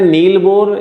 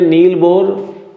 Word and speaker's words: बोर: उन्हीं के ही अभिग्रहितों के आधार पर आते हैं फिर नील बोर।